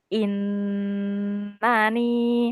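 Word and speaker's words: إنني: Harusnya innani in h in inani. Hm. Tadi Kak dia kurang lama tuh.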